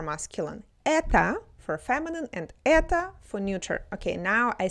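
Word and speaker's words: это: But again, it's written differently, but pronounced the same because when O is stressed, it's pronounced as O and when it's not stressed, it's pronounced as a.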